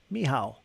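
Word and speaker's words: Michał: there it is uh it's a Polish version of Michael it's pronounced miow miow is it really I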